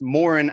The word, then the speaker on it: Moran: It's Moran actually.